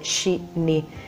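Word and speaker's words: しに: Poi c'è chi ha fatto notare che in giapponese 4 e 2 si pronunciano rispettivamente shi-ni, che significa anche morire a quanto pare.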